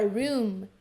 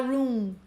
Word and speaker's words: room: Essa palavra room termina com M, então cuidado para não falar room, né? Como se terminasse com N.